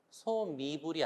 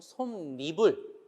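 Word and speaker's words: 솜이불: 여러분 중향은 얘를 기억하세요 솜으로 이불을 만들었어요 소 미불이 아니고 손 미불 니은이 들어가서 발음을 하고요 맹입이 아니고 맨입 니은이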